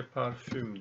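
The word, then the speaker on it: parfum: Türkçeye parfüm diye geçmiş Fransızcadan ama telaffuzu çok farklı. Parfüm. Fransızlar parfüm diyorlar.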